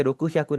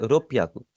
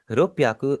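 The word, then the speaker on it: 六百: अब इसे रोकू श्याकू नहीं बोलना, आपने क्या बोलना है इसे रोप्याकू। रोप्याकू सांजियो क्यू।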